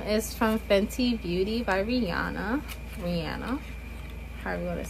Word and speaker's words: Rihanna: I think she in multiple interviews said her name is pronounced Rihanna.